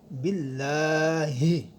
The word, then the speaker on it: باللہ: غنہ ہوگا۔ آمنتو باللہ، یہاں اللہ کا لام باریک ہوگا۔ اس کی وجہ یہ ہے کہ اللہ کے لام سے پہلے جب زیر آ جائے تو یہ باریک ہوتا ہے۔ اس کے بعد ہا ہے جو انتہائی حلق سے ادا ہوگی، باللہ کما ہوا۔ تو میم کے بعد